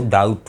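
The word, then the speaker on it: doubt: इसका actual word था ड्यूबिटेरस, तो ड्यूबिटेरस में बी मौजूद है, इसलिए बी साइलेंट मौजूद है इसके अंदर, इसको डाउट पढ़ेंगे, राइट।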